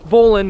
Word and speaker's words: bowline: if you're spelling it spell it bowl line but it's bowling not few uses for the